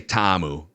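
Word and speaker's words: Ta'amu: wonder you know uh I'm gonna say TAMU that's how I'm going to pronounce it for the purposes of this podcast I think that's correct he was the xfl's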